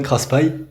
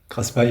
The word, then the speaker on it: Craspay: Alors Dylan Craspet, dans le sud on dit Craspet, mais t'es pas le premier.